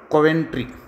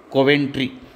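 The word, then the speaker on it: Coventry: ಕಟ್ ಮಾಡಿ ಹಾಕ್ತಾ ಇದ್ದೇನೆ okay next ತಗೊಳೋಣ Christie ಕಾಮವೆಂಟ್ರಿ Christie ಕಾಮೆಂಟ್ರಿ ಸ್ವಲ್ಪ ಉಚ್ಚಾರಣೆ ಆಗೋದಿಲ್ಲ ಇವು ಇವು ನಮ್ಮ ದೇಶದ ಕಲ್ಲವ ಮಲ್ಲವುಗಳಲ್ಲ ಸೋ ದಟ್ ಅದಕ್ಕೆ ಇವು ಕ್ರಿಸ್ಟಿ ಕೊವೆಂಟ್ರಿ ಕ್ರಿಸ್ಟಿ ಕೊವೆಂಟ್ರಿ ಯಾರ ಇವಳು ಈಜಿಪಟು ಈಜಿಪಟು ಇವಳು ಈಸುಗಾರ್ತಿ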